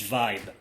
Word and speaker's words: vibe: Y para pronunciar bien la B hay que juntar los labios.